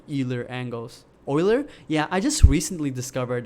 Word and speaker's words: Euler: have a better experience with like Euler angles Euler yeah I just recently discovered that's how you pronounce it or other angles so I was